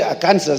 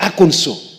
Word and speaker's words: Arkansas: If you say Arkansas, they tell you, no, it is wrong. It is pronounced Arkansas.